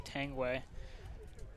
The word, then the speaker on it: Tanguay: I know, like, my name looks like Tanguay, but it's actually Tangway. So whenever I make profiles on social media, I usually just do Tang and then. Just kind of make it so people really know how to pronounce my name.